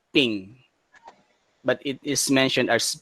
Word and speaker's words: PNG: interface format and actually this png is originally pronounced as ping but it is mentioned as png portable network graphics attituding